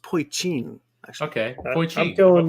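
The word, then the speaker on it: poitín: No, it's called it's spelled Poitin, but I think it's pronounced Poitin.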